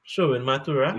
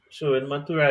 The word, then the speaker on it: Sherwin Mathura: You If want let's to put go a with so very short name, Sherwin Mathura, I'd roll up. That's what, yes. 4 syllables. Sherwin Mathura.